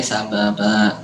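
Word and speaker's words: سببا: Ya, betul bacanya sababa. Jadi dipanjangkan ya 2 harokat. Sababa. Intinya semua huruf terakhir yang harokatnya fathatain kecuali ta marbutoh dibaca 2 harokat.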